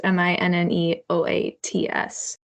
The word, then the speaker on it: Minneoats: don't realize this, but Minneots is spelled like Minnesota, but the last 4 letters are rearranged to spell oats. So it's Minneoats.